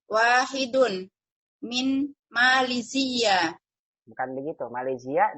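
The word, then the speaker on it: ماليزيا: Malaysia dia tidak ada tasydidnya. Kita bacanya gini Malaysia. Wa talibun wahidun min Malaysia. Min Malaysia, bukan Malaysia. Malaysia. Coba lagi. Wa talibun wahidun min Malaysia. Bukan min Malaysia, bukan min Malaysia. Min Malaysia. Z-nya pendek, Malaysia.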